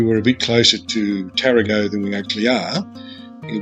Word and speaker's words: Tarago: At the end of the last video, I thought we were a bit closer to Tarago than we actually are.